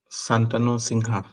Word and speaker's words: Santanu Singha: okay so Mr pangam Santano sing is it the correct pronunciation of your name it's correct sir okay